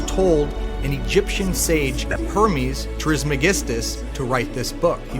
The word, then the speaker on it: Trismegistus: Though attributed to the legendary Hellenistic figure Hermes Trismegistus.